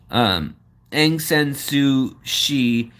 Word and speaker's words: Aung San Suu Kyi: Aung San Suu Kyi is how you say it.